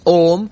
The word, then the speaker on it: Om: Actually, if you pronounce Om, you go through the entirety of all sounds because it starts with an open mouth. Ah, and then you slowly close the mouth.